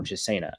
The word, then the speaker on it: Chisena: Westbrook and the track guy from Penn State, Dan Chisna, or Chisena, I guess we've been told is how it's pronounced.